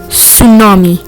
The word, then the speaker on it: tsunami: Tsunami, pronounced as tsunami, is a Japanese word.